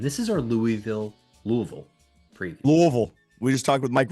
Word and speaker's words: Louisville: Louisville. We just talked with Mike Rutherford about how to properly pronounce it, and you already messed it up, man.